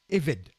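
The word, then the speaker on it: עֶבֶד: se prononce et rêve le B se prononce comme un V hein lorsqu'il y a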